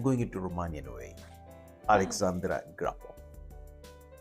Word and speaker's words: Grapa: You can say Grapa. It's perfectly also fine. I like it Grapa, as you told me. Thank you. I'm going into Romanian way. Alexandra Grapa.